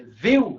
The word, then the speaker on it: viu: A palavra é viu ou é viu? É viu, né? O I ele soa mais forte.